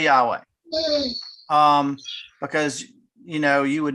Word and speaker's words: Yahweh: written was yhwh um it's pronounced yahweh when you add in the vowels but jews would never